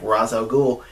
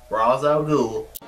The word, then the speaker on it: Ra's al Ghul: he says who you working for he's like Ra's al Ghul he's like Ra's al Ghul is dead and